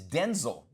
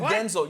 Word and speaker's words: Denzel: The correct pronunciation of his name is Denzel. Did you know that? No. So his mom called him Denzel.